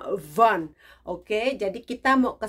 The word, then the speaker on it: Vaughan: tulisannya Va ugan karena ada huruf kalau Indonesia bilang ada huruf g a Maha itu jadinya silent nggak dibaca jadi bacanya okvan Oke jadi kita mau